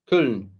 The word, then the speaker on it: Köln: Köln. Start with the soft K, follow with Loon.